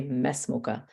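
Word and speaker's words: ما اسمك: So the Hamzatul Wasl will not be pronounced, and you just go straight to the scene and you say masmuka.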